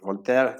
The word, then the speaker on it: Voltaire: Voltaire, o si lo pronunciamos en francés, Voltaire, fue uno de estos grandes pensadores y defensores de la libertad de conciencia y de la tolerancia.